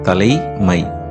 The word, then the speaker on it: தலைமை: அதே சமயம் தலைமை என்பதை தலமா என்று உச்சரிப்பதை நம்மால் உணர முடிகிறது. எவ்வாறெனில் தலைமை என்னும் இச்சொல்லில் 2 ஐகள் இருப்பதை காண முடிகிறது. ஆதலால் முதலில் வரும் லை, ல என்ற ஒலியுடனும் இரண்டாவது வரும் மை, ம என்ற ஒலியுடனும் அதனுடைய உண்மையான உச்சரிப்பு குறைக்கப்பட்டு ஐ என்பது 2 இடங்களில் அ என உச்சரிக்கப்படுகின்றது. ஆனால் இவற்றை எழுதும் போது தலைமை என்றே எழுதுகிறோம்.